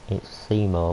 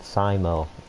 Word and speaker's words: Seymour: It's Seymour, but some people said Simo for some reason.